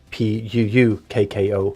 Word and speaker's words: puukko: Pukko, because the K is extra hard. Otherwise, you pronounce it is Pukko, which would be P-U-U-K-K-O, which means knife. But then it's longer.